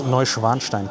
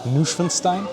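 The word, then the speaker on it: Neuschwanstein: This is Novanstein Castle and yes that's how you pronounce that. It's not Neninstein next to uh the Italian Rivera um which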